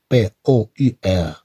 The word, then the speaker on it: pour: P-O-U-R se prononce pour.